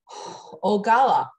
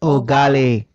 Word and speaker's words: Ogali: Now I am going to move to our third speaker, Ogala. Ogala, tell me if I said it wrong. And did I say it correctly? Ogali.